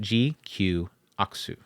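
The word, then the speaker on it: GQuuuuuuX: And it's pronounced GQXU. Or Aksu. When they were doing their live stream, when they initially announced it, they said it is pronounced GQ Aksu.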